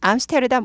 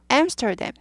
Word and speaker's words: Amsterdam: Amsterdam 발음이 암스테르담 못 알아들어요. Amsterdam, Amsterdam, Amsterdam, Amsterdam, Amsterdam 네덜란드 도시죠?